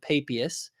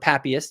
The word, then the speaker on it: Papias: getting close into the 1st century, potentially with Papias, or Papias, depending on how people want to pronounce it.